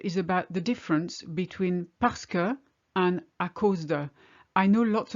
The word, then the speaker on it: parce que: speaker first of all pasca actually means because and we pronounce it pesca almost like p-a-s-k-e if you like pascal and it only means